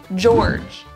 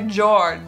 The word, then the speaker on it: Georg: happy okay next one George George how would you say George New York Georg Georg yeah it's two syllables I'm sure it's also